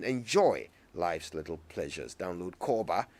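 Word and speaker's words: Korba: they say but with koba every minute of your time is like a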